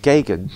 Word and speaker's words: Geoghegan: The name Geoghegan, the way it's spelt is... Geoghegan. Or... G-O-G-H-E-G-A-N. Oh, yes. Geoghegan. It's not pronounced, but the way it's spelt, you'd think it would be pronounced Geoghegan. Geoghegan. Or Geoghegan. Which could be... Geoghegan. From an old Irish name, Geoghegan. Could be. Who knows? You know what I mean? And it's just mispronounced by English.